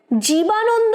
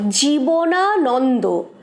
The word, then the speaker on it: জীবনানন্দ: অনিল: জীবানন্দ নয়, জীবনানন্দ। নামটা অনেককেই ভুল উচ্চারণ করতে শুনি।